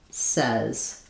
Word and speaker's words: says: African English but in a word like says in American English this has the e vowel says. So it's the same vowel that's in red. um we really should write it with a Z a Z and a letter E says but in African dialects